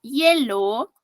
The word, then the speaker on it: hielo: Hielo, aquí no tiene un sonido vocálico. Hielo, hielo. ¿Me das un vaso con hielo? Suena como doble L, ¿verdad?